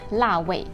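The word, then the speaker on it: 腊味: The most significant dish for the Cantonese is lap mei, cured meat or the preserved meat. In Mandarin, it is read as la wei.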